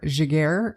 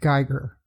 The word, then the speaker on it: Geiger: In the episode, I called the perpetrator Jaguar, and the reason for that is I have a niece who is married to a Jaguar, spelled the same way, all that stuff, so that's how I thought it was pronounced. This guy's name is pronounced Geiger, so that is the correct pronunciation.